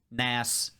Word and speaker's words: Nas: Nas, we've been saying his name wrong the whole day. Nas.